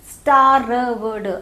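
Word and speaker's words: starved: स्टार वर्ड, आर इसमें silent है.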